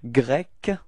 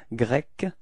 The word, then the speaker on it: grec: to pronounce it, okay, so we do have grec, okay, so it's ending with a k, k, k, grec, okay, and feminine form is the same, it's grec.